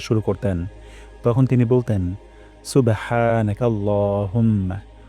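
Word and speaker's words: سُبْحَانَكَ: আমরা চেক করব নাকাল্লাহুম্মা সুবহানাকা তারপর ওয়াবিহামদিকা এর উপর এখানে মার্ক দেওয়া আছে এই হাটা আমাদের গলায় উচ্চারণ হচ্ছে কিনা আমরা দেখব হা গলার মাঝখান থেকে উচ্চারণ করব হামদিকা এখানে উচ্চারণ করবো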